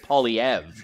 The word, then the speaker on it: Poilievre: Really Frenching up the pronunciation today. We're used to the Anglo, just Poilievre. You're doing it the... I know, I know. I always just pronounce it in the French way, and I've kind of